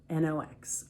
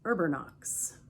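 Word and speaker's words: Erbanox: Urbanox is spelled E-R-B-A-N-O-X. Urbernox, Urbernox.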